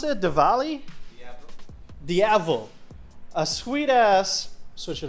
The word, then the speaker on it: Diavel: How do you pronounce it? Diavel? Diavel.